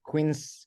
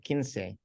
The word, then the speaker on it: Quince: the in the 70s there was a cartoon strip in the Philippines uh spelled the same way but we pronounce it Quince oh wow interesting that's